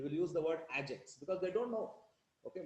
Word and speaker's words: AgX: Okay, you have to say Ajax. They will use the word Ajax because they don't know.